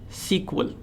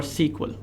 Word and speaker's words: SQL: an SQL developer so SQL is often pronounced as sequel so many people either call it sq or sequel now relational databases are